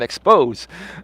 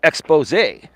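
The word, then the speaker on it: Exposé: And he's like, it's expose. There's an accent on the E. I used to call them expose. I didn't know. I was young and dumb, right? It's actually expose, right?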